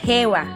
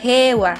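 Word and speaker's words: 平和: Como vocabulario tenemos la palabra hewa, que significa paz. Fíjate cómo esta palabra se escribe heiwa, pero se pronuncia hewa.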